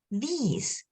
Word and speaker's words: these: I this this and this one is a long e these these and with a